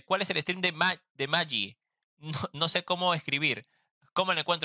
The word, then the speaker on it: Mahi: Y se pronuncia... Maggie.